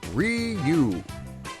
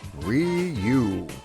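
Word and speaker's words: Wii U: Wii-u, wii-u, wii-u. There we go. I have now learned the proper pronunciation of the word.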